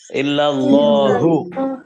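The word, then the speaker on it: إلا الله: লাহু বলা যাবে না, ইল্লাল্লাহু।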